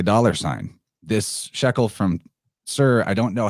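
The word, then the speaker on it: Tyre: I know that it looks like it says tire but you actually pronounce that sir and knowing that is very helpful because you'll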